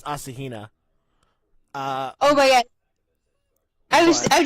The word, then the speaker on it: Asahina: to Asahina aura scheana you pronounced it doesn't matter I think the actual pronunciation is Asahina oh yeah I just